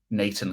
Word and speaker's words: Nathan: So Nathan Collins, the Brentford defender, Irish fella, in this Premier League video, he names himself, pronounces his name as Nathan Collins because he's Irish, Nathan.